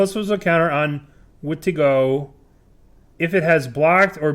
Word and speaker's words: Wendigo: Wendigo? Or Vendingo? Wendigo, yeah. Correct.